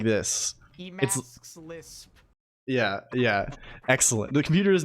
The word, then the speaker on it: Emacs Lisp: It's pronounced Emacs lips. Yes. Okay. That should do it now. So now if you you don't even need the thing, right? It's like this. Emacs Lisp.